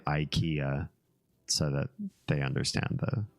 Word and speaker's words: Ikea: of the store is Ikea so it rhymes with idea same same idea yeah